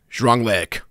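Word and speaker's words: Drangleic: For the record, it's, here it comes, Zhuanglek.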